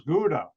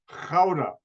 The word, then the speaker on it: Gouda: it's pronounced by americans gouda that's not how the dutch pronounce the g it's pronounced cauda and most americans cannot